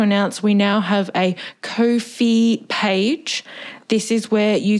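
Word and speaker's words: Ko-fi: their organization okay and it is kofi the same as no fee get it because kofi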